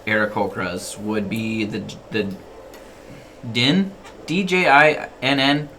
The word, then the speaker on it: Djinn: D-J-I-N-N. How do you pronounce that? Is it Djinn? Jin. Jin? Jin. The D is Like silent. the What's June? Jin. Like the alcohol?